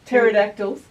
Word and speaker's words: pterodactyl: you say parrot dinosaurs pterodactyls pterodactyls it's a silent p you're funny no petra